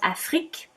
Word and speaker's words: Afrik: different and it's called afric a-f-r-i-k and i think it's a brilliant name because it is the way you would say africa in french afrik i don't know if